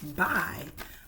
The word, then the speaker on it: buy: We can hear the B at the beginning, but the U and the Y together make a long I sound.